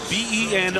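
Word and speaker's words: Benoit: It's on David Benois. B E N O I T pronounced Ben.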